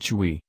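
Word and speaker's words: Choi: a newspaper reports that Choy pronounced Chui Sunil Park's longtime friend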